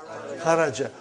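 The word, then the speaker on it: خرج: Say it properly. Kharaj. With sukun. You won't say with. You will say kharaj.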